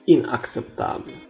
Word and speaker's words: inacceptable: biasa bacanya inacceptable, indispensable, inacceptable. Huruf C pertama diikuti C sehingga dibaca K, ak. C kedua diikuti E sehingga dibaca S, acceptable, tidak dapat diterima.